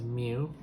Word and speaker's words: mu: if its population mean this is new it's not really how it's spelled but phonetically that's how it's spelled mu as the population